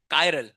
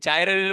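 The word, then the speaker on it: chiral: कायरल क्या pronounce करोगे? कायरल ए चाइरल बोलोगे भगा दूंगा क्लास के बाहर।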